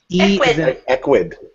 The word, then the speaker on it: Ecwid: Equid. Equid. If that's how you say it. Yeah, Equid.